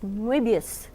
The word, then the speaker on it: Moebius: of Jean Giraud, known to most Americans as Moebius, or as they pronounce it in France, Moebius.